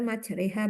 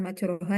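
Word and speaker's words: مجراها: sekarang coba yang bawah dibaca yang benar majreha bukan majroha ya gih Bu tandanya ini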